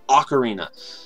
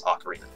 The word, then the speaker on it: Ocarina: a real word so there's definitely a correct pronunciation and it is Ocarina it is definitely not something where there's a